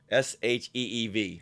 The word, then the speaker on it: Sheev: Isn't it spelled like Shiv though? Sheev. Oh, it is Eev. Yes. Okay. Yeah. All right. I thought it was just a long I.